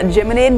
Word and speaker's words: Geminid: And hey, we told you about it yesterday morning, the annual Geminid meteor shower.